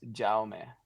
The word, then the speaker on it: Jaume: Jaume. I mean, in Spanish, then my name would be Jaime, but Jaime. in my first language is Catalan, so it's pronounced Jaume. It's like a more quiet J.